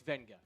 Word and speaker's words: Vega: Vega Oan or Venga. It is Venga. There is an invisible N in how he pronounces his name.